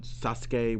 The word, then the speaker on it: Sasuke: That's like when they had great Sasuke, but they'd call him Sasuke, which is the correct pronunciation.